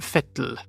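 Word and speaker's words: Vettel: Max fren not vapen Sebastian fettle again not Sebastian V Sebastian fil vov Jac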